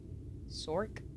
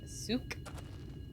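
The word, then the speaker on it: Souq: Sork? No, there's no R in that. It's like S-O-U-Q. So Souk.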